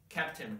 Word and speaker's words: captain: so pain or Spain words which have only one syllable then I pronounce this way in Spain pain but if it has two or more syllables in captain Curtin Mountain got it well this